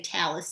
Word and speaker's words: talus: transmitted down into what your book gives us pronunciation talus and some people say taylor some people say talus it means a tablet